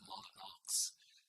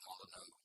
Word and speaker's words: Molyneux: I was recently told that used to be pronounced Molyneux, but I'll stick with the Molyneux pronunciation.